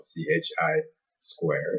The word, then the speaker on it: chi-square: distribution of that cell ch I square so that's pronounced chi-square distribution will still be judging